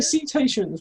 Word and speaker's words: cetaceans: They're cetaceans with a soft C.